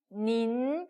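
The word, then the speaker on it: 您: 자, n인 n 발음이 나요. 그리고 in은 in, 그죠? 그래서 두 개가 합쳐지니까 어떻게 읽어요? 닌, 그죠? 여기다가 이성까지 들어왔으니까 이렇게 올라가야 되죠? 그래서 어떻게 읽는다고요? 닌 이렇게 읽습니다.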